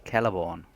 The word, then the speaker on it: Celeborn: It's like Celeborn, not Celeborn. It's Celeborn.